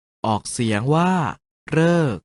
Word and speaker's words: ฤกษ์: ว่า ทฤษ ดี และ สรึ ออก เสียง ว่า เรอ ใน คำ ว่า ฤกษ์ ออก เสียง ว่า ฤกษ์ ดี มี ส่วน สละ